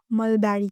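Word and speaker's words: mulberry: तो शतूत को हम इंग्लिश में मलबेरी कहेंगे। मलबेरी बेरी नहीं पढ़ना इसको मलबेरी वगैरह ऐसे कोई भी गलत प्रोनाउंस नहीं करना। इसको मलबेरी कहेंगे।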